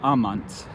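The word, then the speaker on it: amant: they love in latin it's almont a-m-a-n-t in spanish the i guess you know out of laziness that tea drops out over time so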